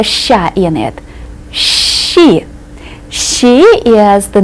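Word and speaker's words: щи: easiest word with the letter sha in it sh she is the name of a soup that that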